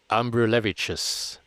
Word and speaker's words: Ambrulevičius: Ambrulevicius. I had to go back and re-listen to how I pronounced it multiple times, but I had a great little chat with them a couple weeks ago.